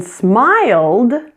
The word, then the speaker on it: smiled: In smiled, it sounds exactly the same, correct? Sounds like D.